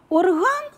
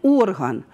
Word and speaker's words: орган: Або, наприклад, слова орган і орган. Орган – це великий музичний інструмент, а орган – це якийсь орган у людини або у рослини, у якоїсь біологічної істоти.